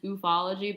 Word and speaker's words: ufology: i think the cur the correct pronouncing easter is ufology but i think that's so goofy sounding like ufology whatever uh that so